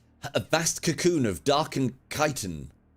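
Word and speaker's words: chitin: I've heard that pronounced all sorts of different ways. I've also heard it pronounced chittin. Uh cuz it's said a lot as far as gestalers are concerned. Boys, you can back me up here. But it is indeed kitan forms around the leviathan.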